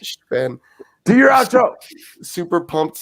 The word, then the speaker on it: Sven: I feel like he pronounces that with a TH and an F in between instead of a V. Look at Sven. It's Sven.